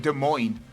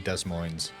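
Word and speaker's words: Des Moines: in my life where I couldn't pronounce De Moine properly and I was big dumb. Oh, were you saying that? I was saying Desmos.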